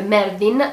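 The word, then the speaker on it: Merthin: un po' sulle scatole si chiamano mertin che in realtà si pronuncerebbe merdin ma chiamarlo merdin in un video che poi viene visto in italiano mi sembra un po' scortese Quindi se non vi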